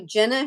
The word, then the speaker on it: Jenna: of time uh so Jenna Shaw who plays the mom Rachel her name looks like it's spelled like Gina is Jenna g-e-n-a Shaw and she plays